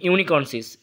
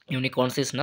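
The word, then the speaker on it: unicornis: আমরা বোঝা যাচ্ছে এটা গন্ডারের কথা বলছে রাইনোসর ইউনিকর্নসিস ঠিক আছে রাইনোসের ইউনিকর্নস ইউনিকর্নস না সরি উচ্চারণটা ভুল করলাম ইউনিকর্নিস ঠিক আছে রাইনোসর ইউনিকর্নস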